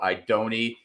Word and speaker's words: Idone: week's show we have very special guest Joe idoni you can find him on Twitter at tourpix